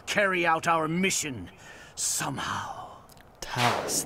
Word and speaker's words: Thales: Talus, that's how you say it. I was thinking Thales.